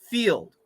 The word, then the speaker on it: field: vowel yes or no field f-i-e-l-d do we hear the I vowel yes or no okay no that's right there's no I it's silent okay we only hear a long e now I'll give you